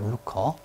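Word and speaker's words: lucre: 더 많은 이게 루커라고 발음하시면 돼요. 루커.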